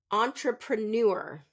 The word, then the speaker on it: entrepreneur: we'll do three more entrepreneur so this has a French pronunciation pattern in English so we're going to stress the last syllable most English words do